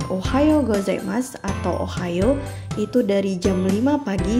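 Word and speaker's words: おはようございます: yang digunakan untuk pengucapan ohayou gozaimasu atau Ohio itu dari 05.00 sampai 11.00 pengucapan How menjadi Bunyi panjang ko-a yo Minna San coba kita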